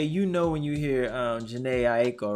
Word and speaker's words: Jhené Aiko: Yeah, it's like, okay, you know, when you hear Jhené Aiko, right?